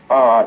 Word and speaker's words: Norfolk: Yeah, everybody has different pronunciations of it. I say Norfolk. Okay. Some people say Norfolk.